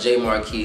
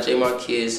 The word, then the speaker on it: JMarquis: It's not Jmarquis, it's not Jmarquis, it's not Jmar, it's none of that. It's Jmarquis, that's J-M-A-R-K-E-Y, like key to the car, Jmarquis.